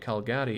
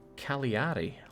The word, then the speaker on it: Cagliari: By the way, Jake, Calgary is pronounced Cagliari.